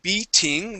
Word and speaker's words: beating: good good let's uh let's switch some T's to D's all right so on beating we want to say